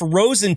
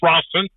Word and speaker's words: Rosen: Please welcome H&M driver Rosen to the show. thank you so much for being here. How you doing? And it's pronounced Rossen.